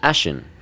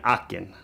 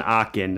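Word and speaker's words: Aachen: a 39 millimeter uh it's based on a ashen uh this would be an akin your letters are correct your pronunciation is wrong right right yeah it's an arcane a-a-c-h-e-n is i'm trying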